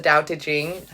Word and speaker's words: Daodejing: the daodejing right now the daodejing you're supposed to pronounce it with all D's and so I'm gonna